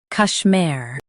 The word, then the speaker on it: Kashmir: Kash mir Kashmir Stress mir in Kashmir.